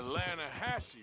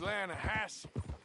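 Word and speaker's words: Lannahechee: some beautiful steelhead trout you mean the lana hassey river no no no no no the the lana hatch it runs right near here yeah but it's pronounced land hass why is everything in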